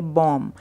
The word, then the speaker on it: bomb: इसी तरीके से BOMB होता है, तो वहाँ पे बॉम्ब नहीं बोलेंगे, हम बोलेंगे बॉम्ब। तो पीछे जो बी है, इन शब्दों में हमें बी का उच्चारण नहीं करना है।